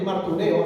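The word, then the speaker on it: μαρτυρέω: La palabra testimonio viene del griego martureo, así como se oye, martureo, acento en la E, que quiere decir testificar, atestiguar, ser testigo.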